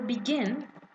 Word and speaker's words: begin: here the stress sorry here is on the second part so again if you